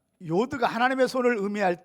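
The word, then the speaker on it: יוד: 자, 요드로 시작하는 히브리어. 여러분, 요드로 시작하는 히브리어가 바로 요 단어예요. 야드인데 야드, 요드. 발음만 틀려요.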